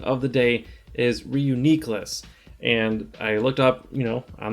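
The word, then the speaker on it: Reuniclus: of the day is Reuniqueless, and I looked up, on the show how they pronounce it, and in the book they are pretty much the same. Reuniqueless, the accent's on the third syllable.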